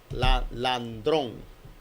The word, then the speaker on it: Landrón: Landrón. Hay que pronunciarlo casi en sílabas para uno no cometer un desliz.